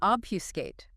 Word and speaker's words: obfuscate: Okay, number 8, to obfuscate. O-B-F-U-S-C-A-T-E, emphasis. Obfuscate. Stress on the first syllable. Ob. 3 syllables.